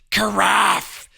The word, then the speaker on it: carafe: kara karafie karaf kariff we didn't know how to say that carafe i think is the proper way to say it yes the craft temperature